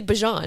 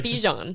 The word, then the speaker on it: Bijan: He's like, this is how you actually say my name? His name is actually Bijan. It's not Bijan.